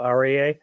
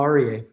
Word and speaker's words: Aryeh: I'm here with Paul arier and I'm sorry I'm I'm sure I'm mispronouncing your name do you want to go ahead and share it with us you said it perfectly Paul arier okay great so you